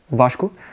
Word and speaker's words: Vasco: me in the comments hi my name is vasco or if you want to pronounce it the right way it's pronounced vashku but i recorded this